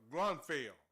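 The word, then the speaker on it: Grunfeld: another player called Ernie Grunfield and uh Grunfell. That's that's how you say it, man. Gruntfield Gruntfell. It all depends on if you're from the south or the north or you talk country or you talk.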